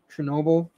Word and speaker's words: Chernobyl: Chernobyl? Chernobyl.